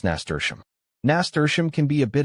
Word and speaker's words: nasturtium: Tium, this rhymes with museum. So, if you put it all together, it sounds like nasturtium.